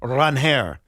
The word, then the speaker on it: Ranger: I have to say Ranger Suarez clarified he pronounces his name Ranhair.